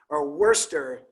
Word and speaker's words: Worcester: The famous court, there were a couple decisions handed down, but one of the famous ones is Worcester is the way that it's actually pronounced.